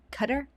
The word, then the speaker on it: Qatar: As he says it, cutter. Cutter. Is that how Americans say it?Qudder. Like cutter.